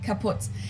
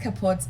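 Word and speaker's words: kaputt: moved to the us we spell it with two T's in Germany but we pronounce it the same way kaput and it basically has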